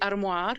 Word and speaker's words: armoire: Like it's supposed to be armoire in French, but the book I still can't say armoire.